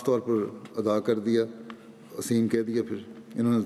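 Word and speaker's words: أثيم: شجرت الزقوم طعام الاسیم, تو اس نے اس سے اسیم ادا نہ ہوتا تھا, تلفظ تھا ایرانی کا, اسے اتنا ادا نہیں کر سکتا تھا اسیم کے لفظ کو. وہ ہر دفعہ اسیم جب یہ کہتے تھے وہ یتیم کہہ دیتا تھا.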